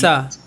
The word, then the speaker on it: JAXA: He does a lot of weird shit through his life, but from the minute he joins NASA, how is it pronounced? Jaxa.